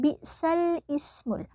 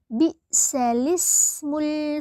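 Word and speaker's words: بئس الاسم: cara membacanya di sini sekilas pasti kita membacanya dengan bacaan bisal ismul ya bisal ismul padahal kalau dalam bacaan naqalnya ini dibaca menjadi balismul fusuq Nah jadi bacaan Hamzah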